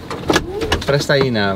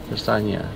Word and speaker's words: Prestaina: Prestaina, ¿verdad? Yes. How do you say your name? Prestaina. Prestaina.